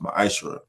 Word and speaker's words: ma'aser: Ties, which is a commandment you can find is in Numbers 18:21 and and Malachi 3:8 through 10, means tenth in Hebrew and is pronounced ma'aser.